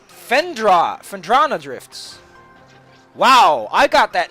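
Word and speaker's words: Phendrana: do this you can also miss welcome to pandero drifts oh no it's fendra fendrana drifts wow i got that name wrong lots osama's rock animation just blows oh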